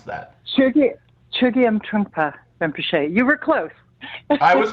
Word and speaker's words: Chögyam Trungpa Rinpoche: probably correct me, but I'm pronouncing this as Chögyam Trungpa Rinpoche since the age of 25. Did I get that right, Melissa, or how do we pronounce that? Chögyam Trungpa Rinpoche.